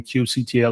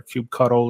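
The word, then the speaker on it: kubectl: instead of like using Cube CTL or cube cuddle if you say it wrong uh you just like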